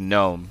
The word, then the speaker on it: gnome: still cool Max gnome it's a gnome the g is silent you stupid [ __